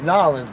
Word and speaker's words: New Orleans: It's Nolens, motherfucker. Nolens, all right. I got it right, I know how to pronounce shit.